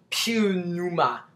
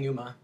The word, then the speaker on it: pneuma: u m a and it sounds like Numa but if you look at this like regular I'm talking about regular like I know you can't see it but it's like it says it looks like PE Numa but it's really saying Numa I that's all I